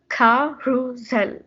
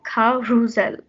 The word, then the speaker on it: carousel: which is a merry-go-round it's actually pronounced ca ru zel you have to like stress the middle of the word and then as you can see in the english word it's s but it's pronounced with a z sound so it's like kha rusell and then the next